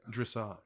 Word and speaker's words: dressage: Dressage.